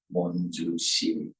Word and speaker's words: Monjushiri: The Chinese translators at that time tried to find characters that are pronounced in a way that it sounds somewhat like Manjushri. And these characters then came to Japan, where they are pronounced in a different way.